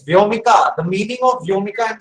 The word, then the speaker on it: Vyomika: How do you pronounce that? So I stay. Govind, how are you? Yeah, I'm doing good. It's Vyomika.